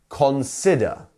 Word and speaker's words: consider: there is stressed so we have three don't we consider and which one is the stressed one it's the one with the apostrophe right and the dot so consider consider great and um as you